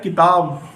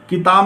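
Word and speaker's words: کتاب: तो जो काफ पर हरकत यूज़ करी गई है वो ज़ेर की हरकत इस्तेमाल करी गई है, ना कि आप कताब पढ़ोगे। कताब नहीं पढ़ना है आपको, किताब पढ़ना है।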